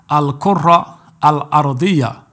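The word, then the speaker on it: الكرة الأرضية: On the contrary, however, when it comes to the so-called globe earth, this is the correct way to say globe earth in the Arabic language, right here on the screen. Al-Qurra al-Ardiyya.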